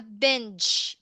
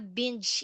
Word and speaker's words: binge: So on the other hand, the opposite of it is I am a binge eater. So take note the GE is pronounced as J. Letter J. I am a binge eater.